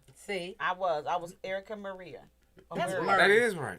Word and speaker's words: Maria: you said that because a lot of people pronounce it Murray. No. Maria.